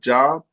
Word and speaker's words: Job: In high school students will read the parable of the pro prodigal son proportions of the book of Job or is that spelled pronounced job?